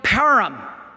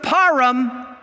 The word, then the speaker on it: Purim: before they executed and i know i'm not gonna pronounce this right i never can he yelled param p-a-r-i-m param and nobody